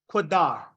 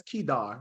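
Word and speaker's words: קדר: Next word, Quadar. Quadar, right? You may also hear pronounced differently with vowel points, Kedar, right?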